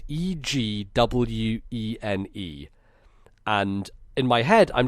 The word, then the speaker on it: Egwene: Her name is spelt Egwene, and in my head, I'm just pronouncing it as Edwin the whole time, Edwin. And what apparently, is it meant to be? Egwene? It's Egwene. Egwene.